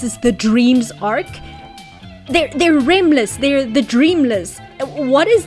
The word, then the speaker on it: Remless: and they were just writing it out phonetically, like lemures. But these things, they're called remless, R-E-M-less, like, you know, like rapid eye movement sleep, which is what happens